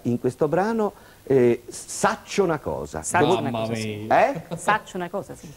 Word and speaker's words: Saccio 'na cosa: brano e che si intitola o perlomeno si pronuncia in questo brano saccio una cosa Eh saccio una cosa Sì che so una